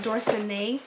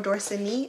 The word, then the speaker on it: Dorsanee: I'm not sure if it's pronounced Dorsanee or Dorsanee. I'm going to just say Dorsanee because it's two E's at the end.